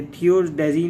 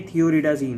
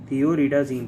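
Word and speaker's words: Thioridazine: ये थियोडाजीन नहीं है, थियोरिडाजीन है, याद रखना, थियोरिडाजीन, थोड़ा सा स्पेलिंग मिस्टेक हो गया।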